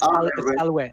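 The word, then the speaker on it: salve: I gotta pronounce it right. All right. Yeah, it's Salwe.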